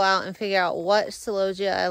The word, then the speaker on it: celosia: go through that one I've been saying celosia for I don't know how long in my life and I did a Google pronunciation and it's celosia I don't even know